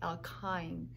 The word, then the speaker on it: alkyne: last one all kinds why any so you pronounce that with an i' alkyne this means that you have at least one